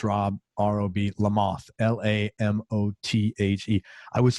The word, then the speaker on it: Lamothe: trying to figure out i thought your name was french i was like how the hell are you and i and then i think i heard you pronounce on an interview something i was like okay it's just lamothe i was like i